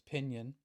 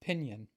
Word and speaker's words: Pingin: says pinion and and I've talked to a number of people about how to pronounce this and even people in Ireland say it differently but I think I'm just going to settle with pinion and there's again a